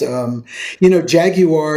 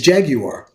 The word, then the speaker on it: Jaguar: Jaguar is the way the British pronounce the car that we call Jaguar. I didn't know that. Yes. Okay. The true British pronunciation for that is Jaguar.